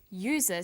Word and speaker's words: user: but a user because user sounds like it begins with a y ah and an are